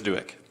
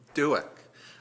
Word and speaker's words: Dudek: I realize Mr. Dudek, is that correct pronunciation? Help me out. I believe it's Duick. Duick.